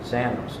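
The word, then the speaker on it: ξένος: was used in place of stranger is xanos it's spelled XE n oos zanos now in that connotation it means invited guest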